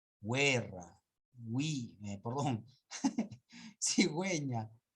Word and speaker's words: cigüeña: yo no es cierto solo cuando estés a diéresis recién se va a hablar se va a pronunciar la u where we belong cigüeña lingüística acá no acá